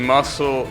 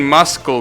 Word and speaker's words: muscle: The C in muscle isn't pronounced. Yeah, thankfully there is Oh, I've been saying muscle memory, right?